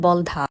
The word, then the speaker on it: বলধা: অনেকেই বাগানটিকে বলদা নামে সম্বোধন করলেও এর আসল উচ্চারণ বলধা।